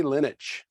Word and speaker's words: Linich: Linich. Rhymes with spinach.